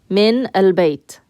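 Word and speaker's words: من البيت: And that's only if you have a word after min that has alif lam, it gets pronounced with a fatha.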